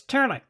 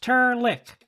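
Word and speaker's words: Trlk: my name's not fuzzy it's turlic pronounced tur lick and spelled t-r-l-k my name's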